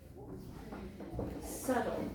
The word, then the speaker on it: subtle: Do you know subtle? Subtle. Let me just write this down. You don't say the B.